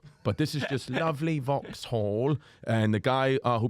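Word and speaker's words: Vauxhall: listening to this place it's called Vox Hall podcast Studio at Vox Hall Comedy Club but they spell it vux okay so I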